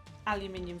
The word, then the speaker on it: aluminium: Okay, even advertising aluminium foil. Aluminium. Yep, it's actually spelled aluminium, so I said it right.